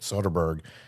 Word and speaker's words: Soderbergh: I believe that's how you say it, Soderbergh.